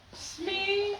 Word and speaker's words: Smee: Smee is a phonic pronunciation of it's me. Smee.